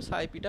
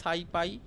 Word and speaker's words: SciPy: তারপর নাম পি কিন্তু সাইপিটা বানানো হয়েছে তো অনেকে বলে সাই পাই আমি বলি সাইপি আবার অনেকে নাম পাই বলে নামপি দুটোই সেম উচ্চারণে কোন অসুবিধা নেই করতে পারো ঠিক আছে